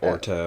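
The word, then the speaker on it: Urteau: yeah yeah yeah that's how they say it in the audio book is like yeah orto orto and so it's like like like or and then toe yeah uh yeah um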